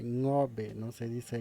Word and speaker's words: Ngäbe: Se dice ngobe, no se dice ngabe, mucho menos nobe. Se dice ngobe.